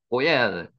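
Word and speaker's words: גֹּאֵל: 열이라 그러죠 구속하다 고입니다 요게 기억 바람납니다 꼬엘 실제로는 꼬엘이라고 있으면은 제일 정확한 말입니다 꼬엘 가말 낙입니다 까말 요는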